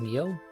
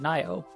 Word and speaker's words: Nioh: I know plenty of people, most everyone I have seen pronounces Neo properly as Neo, right? But when it was first announced and it didn't have pronunciation, some people were calling it Nio, right?